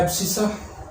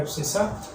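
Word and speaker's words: abscissa: ठीक है, x coordinate को कहते हैं एब्सिसा, एक्स कोऑर्डिनेट को क्या कहते हैं एब्सिसा, और वाई कोऑर्डिनेट को कहते हैं ऑर्डिनेट।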